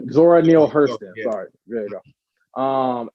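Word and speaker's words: Zora Neale Hurston: these are theirs uh zanir hurst um i think i said her name wrong uh zora neal hurston sorry there you go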